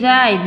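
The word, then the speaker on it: write: silent here and right we say right not right right is wrong we will say the right because w is silent here and knock we don't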